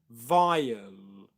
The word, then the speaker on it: vial: an L sound after that on the same syllable as the schwa, so you'd get ul, vial, vial, vial, vial.